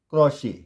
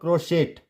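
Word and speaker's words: crochet: And this is CROCHE, क्या पढ़ेंगे, क्रोशे, क्रोशे, ठीक है, क्रोशे। इट्स नॉट क्रोशेट, इट्स क्रोशे। Clear.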